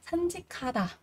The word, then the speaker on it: 산책하다: Chúng ta có âm cờ gặp âm hờ thì âm cờ sẽ được đọc thành là khờ. Ở đây chúng ta sẽ đọc là 산책하다, 산책하다, đi dạo.